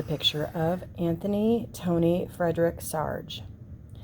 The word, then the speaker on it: Sarg: this is a picture of anthony tony frederick sarge sarge rhymes with arg from the time he was a